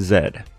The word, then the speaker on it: Zed: I like saying Zed. And I started saying it as a bit a long time ago, because that's how the Canadian folks say it. That's how them there Canadians say, pronounce the last letter of our God-blessed alphabet. Oh no, I got patriotic there.